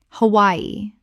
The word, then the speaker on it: Hawaii: Cannes Cannes Word 110 Hawaii Common mispronunciation Hawaii Correct pronunciation Ha wai i Three syllables with the W making a Y sound.